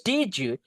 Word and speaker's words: did you: You need to pronounce like G. Did you did you gitu ya? Oke. Did you Why did you take this course? Gitu guys. Itu salah satu style English ya. Makanya natif itu kok ngomong cepat banget digabung-gabung itu apa? Did you? What is diju? Kita dengarnya diju dicari di kamus enggak ada di guys. Oke. It should be dit and you ditambah penambahan suara J.